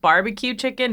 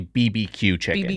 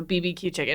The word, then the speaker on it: bb.q Chicken: the name is and you just say it apparently BBQ chicken you don't say barbecue Chi say barbecue so BBQ chicken no this is the